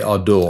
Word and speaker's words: Ardour: it well the pronunciation the pronunciation varies a little bit uh I generally say ardor AR um yeah uh I'd say a lot of Europeans say Ador Ador yeah okay so uh